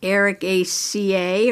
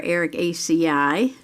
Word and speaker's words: Ericaceae: Now, Pyrola is in the family Ericaceae or Ericaceae, depending how you want to pronounce it.